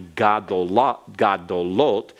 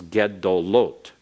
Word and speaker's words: gedolot: What we would think might be gadolot becomes gedolot, gedolot. So that comments changes because it's in the third syllable, the third vowel back from the accented syllable.